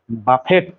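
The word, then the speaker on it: buffet: হচ্ছে আমাদের বুফে breakfast বুফে বানানটা আসলে বাফেট বি U double F ই টি বাফেট কিন্তু উচ্চারণ হবে বুফে বুফে ব্রেকফাস্ট এর বাংলা কি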